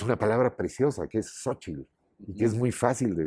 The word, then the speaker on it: Xóchitl: y no no no no se dice por supuesto Tenochtitlán que es muy feo se dice Tenochtitlan suavísimo fácil de decir pasó eso Y entonces